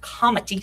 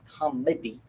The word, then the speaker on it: comity: they based on principles of comity c om ity not comedy but comity comity and I pronounce this